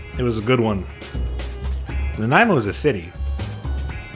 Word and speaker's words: Nanaimo: the Nanaimo bar, and they all said it wrong. There was a bunch of Naomi bars, a few Nanaimo bars. Oh, I wish I saved that clip. It was a good one. Nanaimo is a city.